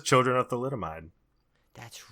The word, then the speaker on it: thalidomide: the late 1950s, as women who had taken thalidomide during pregnancy.